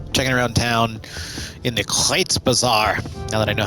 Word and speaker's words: Kreuzbasar: Just kind of checking around town in the Kreuzbasar, now that I know how to pronounce it correctly.